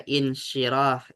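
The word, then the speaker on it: انشراح: Tinggal cara bacanya ini dibaca apa? Nah, ini dibaca insyirah.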